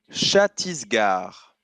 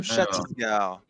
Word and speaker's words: Chhattisgarh: L'État indien que je te demande d'orthographier est le Chhattisgarh. Super. Le Chhattisgarh. Et se prononce comme ça.